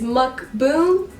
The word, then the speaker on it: mukbang: So today I'm doing a mukbang. Mukbang. No, someone actually replied to my Twitter and said that was not how you said it. It's mukbang. Mukbang.